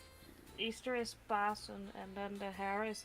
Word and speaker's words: Pasen: Because it rhymes. Ah. Easter, Oh yeah, it is, rhymes. Easter is Pasen, and then the hare is named Paas Haas.